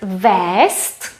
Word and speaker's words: vézt: modero there's another verb vest we spell it with zet we pronounce it with s vest means to take something